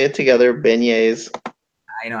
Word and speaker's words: beignets: yes some Big Easy's let's say it together beignets I know how to say it that's it